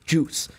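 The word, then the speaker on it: Guice: We even got a comment about that where Mark knows it's Darius Geis. I corrected him. He just likes calling him Darius Juice because it looks like juice. I'm not going to lie. You could say it like that. You could. And get away with it. And people wouldn't think that you're like crazy. It's just the silent U.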